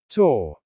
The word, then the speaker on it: tour: The pronunciation is tour. Many English learners incorrectly pronounce tour like tower, but they are completely different words.